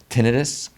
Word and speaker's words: tinnitus: so i get to enjoy uh enjoy that tinnitus you know that's the correct way to say